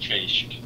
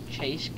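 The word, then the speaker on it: Cześć: that's how you say hi in polish it's pronounced chase chase yeah you actually said something right i killed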